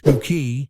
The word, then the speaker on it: Bucket: In 1990, she took on the role of Hyacinth Bucket, pronounced Buki, in Keeping Up Appearances.